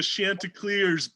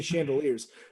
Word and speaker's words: Chanticleers: Chanticleers. Thank you. Chanticleers. I always say chandeliers.